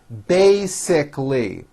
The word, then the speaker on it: basically: meet after work basically there are three syllables bae sick lee basically it's basically a good